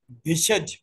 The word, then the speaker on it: भिषज: BHI, जो भी आप, BHY, भिष्यति, भी षटकोण वाला श, आधा ज, य, ति। भिषज, भिषज कहते हैं उसको। हाँ, हाँ भिषज, हाँ भिषज्यति, नमस्कार।